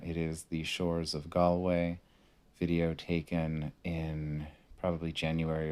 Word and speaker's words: Galway: stop of my trip i like galloway it's it's or galway i think it's i think it's two syllables um really lovely really